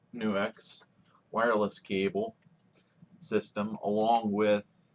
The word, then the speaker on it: NUX: I have my NUX, yes, it's pronounced NUX, wireless cable system, along with some pedals to demo.